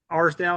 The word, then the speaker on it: Arsdale: Andrew Arsdale is how you say his last name, and Eric Peters, my actual yeah, claim person on my claim.